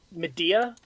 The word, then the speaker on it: Medea: So we are currently working on the Medea, Medea. the EFF. Oh, yeah, I heard thing. Media. I'm like, you mean like a? Oh, that's how you pronounce that.